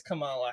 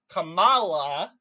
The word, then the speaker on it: Kamala: I didn't really think it mattered, but apparently, according to MSNBC, it's racist to say Kamala. That's not how you say her name. It's pronounced Kamala.